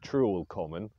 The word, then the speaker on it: Trewell Common: was it neil well from the old english and the slovenly nature of the east anglian dialect i would assume that we would be pronouncing it as true or common so what was common